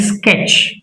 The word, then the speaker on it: sketch: T is not pronounced before CH.